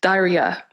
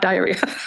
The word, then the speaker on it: Dhairya: The third, inner strength, Dhairya, not diarrhea.